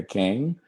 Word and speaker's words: Kang: Monica Kang, did I say it right? Monica Kang.